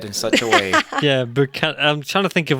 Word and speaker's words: Buchanan: And then also, could you pronounce, you just mentioned a Cormac somebody. Give me that surname. Buchanan. It's Buchanan.